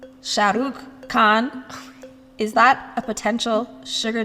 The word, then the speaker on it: Shah Rukh Khan: yeah, I think my aunt would be really proud of me for saying she's a big Shah Rukh Khan fan.